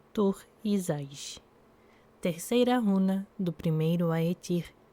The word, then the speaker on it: Thurisaz: Nome: Tur-Izais. Pronúncia: Tur-Izais.